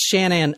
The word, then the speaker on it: Shanann: So it's like Shannon, but Shanann. I think it's pronounced Shannon? Yeah, no, it's pronounced Shannon.